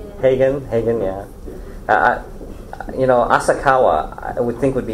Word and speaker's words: Asakawa: I got around to saying, if people look like they're gonna like not have a problem with saying my name, I'll say it's like Kawasaki sideways, and they know Kawasaki, so they go, oh, okay, well that's easy.